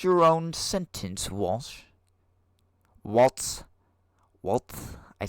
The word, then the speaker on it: Walz: I think that you have basically just pronounced your own sentence, Walsh. Waltz. I say Waltz.